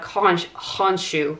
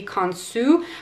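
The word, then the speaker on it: Khonshu: the god conch honshu which i'm not sure is the correct pronunciation of his name in ancient egyptian i think it's more likely to be kansu but there's several different ways that you could say it he is often depicted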